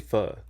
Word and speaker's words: pho: It's actually pho. Pho. I grew up saying pho, so I often say it wrong. I actually prefer to say pho than pho. I think I say pho because most people say pho. Like I know it's pho, but I just don't say it because everyone